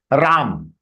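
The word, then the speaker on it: राम: So having a, it is not Rama. Don't pronounce it as Rama. It is Ram.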